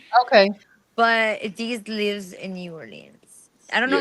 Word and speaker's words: New Orleans: but Deez lives in New Orleans. I don't know how Yeah, to pronounce it.